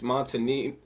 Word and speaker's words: Montagnino: So today we talk with Marcus Montagnino.